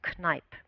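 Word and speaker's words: Kneipp: of the 20th century his name was canipe mr. canipe and this is the German pronunciation you probably would say differently so mr.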